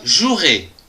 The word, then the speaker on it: jouerai: du verbe jouer je jouerai attention ici il y à un e qu'on ne prononce pas demain je jouerai demain